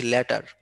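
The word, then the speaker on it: latter: লেট দেখো প্রোনাউন্সিয়েশনটা একটু খেয়াল করো, LATER যেটা এটাকে আমি বলছি লেটার, হ্যাঁ লেটার, ARTর মাঝখানে একটু চাপ দিচ্ছি লেটার, আর LAEER এটাকে আমি বলছি ল্যাটার, ল্যাটার, আর LEEER এটাকে আমি বলছি লেটার।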